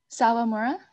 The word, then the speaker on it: Salamura: you are oh yeah how do you say your last name salamura oh so it's just like it looks yeah okay say that